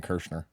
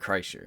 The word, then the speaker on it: Kreischer: Everything in me wants to keep saying Kirshner. You're talking about Bert Kreischer. Yeah. It's not Bert Kreischer.